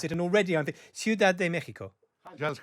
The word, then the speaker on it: Ciudad de México: uh and then i asked him how to pronounce it and already i think ciudad de mexico just how are you yes i'm foreign i